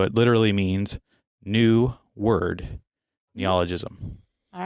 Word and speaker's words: neologism: But sonder is a neologism because it just basically was coined by that particular author that we talked about last time.